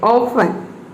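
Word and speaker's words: often: आया है, लिसन, इसमें टी जो है वह साइलेंट है। ऑफन, ग्लिसन, इन सभी में टी साइलेंट है।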